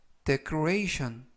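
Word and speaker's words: decoration: 이라고 발음 하시면 되겠구요 이때 강세는 그 부분에 있는 알파벳 a 에 강세가 있고요 그리고 끝부분 ti 오배는 한번에 션 션 발음이 납니다 그래서 데크로 레이 션 이라고 발음 하시면 되겠구요 품사는 명사 뜻은 창식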